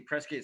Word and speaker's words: Prescott: The other one was just Prescott, and it's obviously Prescott spelled like biscuit, Preskitt, and then Dawn Patrol.